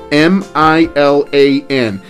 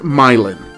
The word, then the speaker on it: Milan: the stuff of legends by the way myelin is spelled m-i-l-a-n and it looks like it should be pronounced milan as in milan italy but in indiana they pronounce it myelin anyway milan high school only had 167 students